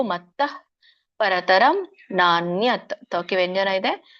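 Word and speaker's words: मत्तः: ಸೊ ವಿಸರ್ಗ ಇರೋದ್ರಿಂದ ಸ್ವಲ್ಪವಾಗಿ ಹ ಉಚ್ಚಾರಣೆ ಮಾಡ್ಬೇಕು. ಮತ್ತಃ ಪರತರಂ ನಾನ್ಯತ್, ತೋಕಿ ವ್ಯಂಜನ ಇದೆ.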